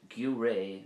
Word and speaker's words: Giúiré: And gaoré would be a jury.